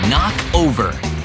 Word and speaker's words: knock: And a silent K is also the first letter in knock over.